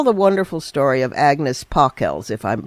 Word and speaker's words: Pockels: Tell the wonderful story of Agnes Pockels, if I'm pronouncing her name correct.